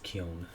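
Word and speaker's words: Keoghan: joker how do you say his name barry kyon kyon okay i wasn't sure how to say it yeah i actually thought it was kyo but it's not then it's the end this is kyon okay yeah what a scene what a fight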